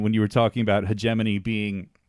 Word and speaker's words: Hegemony: first try no still what's the worst pronunciation you ever got um man uh heg money yeah I was going to say like heg money hegemony we get hamine we get um all sorts of things I don't know you